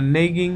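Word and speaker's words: neighing: what does the word হুইনিং mean, the word হুইনিং mean নেইগিং mildly, আচ্ছা এটা সঠিক উচ্চারণ হচ্ছে নেইং, আর এই হুইনিং এটা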